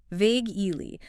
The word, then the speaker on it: vaguely: Vag E. Two syllables. Stress on the first. Vagely.